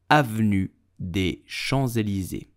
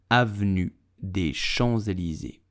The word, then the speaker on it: Avenue des Champs-Élysées: So, how do you pronounce it? You will say Avenue des Champs-Élysées. Avenue des Champs-Élysées. Avenue des Champs-Élysées.